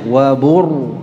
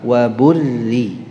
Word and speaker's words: وبرزت: Waburrizat, ra-nya yang benar dibaca tebal atau tipis? Nah, ada khilaf ya. Hanya di kalangan jamaah, di kalangan ulama tidak. Ini ra-nya sepakat dibaca tipis ya. Sebagian bacanya wabur, salah, waburri ya.